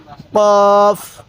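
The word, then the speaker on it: قاف: এই হরফটির নাম হলো কফ কফ এরপরে এই হরফটির নাম হলো কাফ দেখুন কফটা ধাক্কা দিব কাফটা সোজা করে পড়বো কোন ধাক্কা দিব না কাফ কাফ এরপরে লাম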